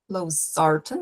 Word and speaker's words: losartan: Losartan, o estresse está ali na segunda sílaba da palavrinha. Valsartan, 2.